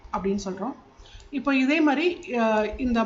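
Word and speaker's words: má: இப்போ இதே மாதிரி இந்த மாக்கு மேலே இப்போ இந்த இது நான் செகண்ட் டோன் ஏற்றி போட்டிருக்கேன்.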